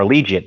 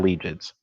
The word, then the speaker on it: Allegiant: stadium or legion or allegiant that's how you pronounce it not allegiance allegiant stadium so it's a dome